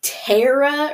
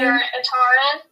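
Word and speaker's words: Taryn: Him and Tara, or however you pronounce her name. Taran.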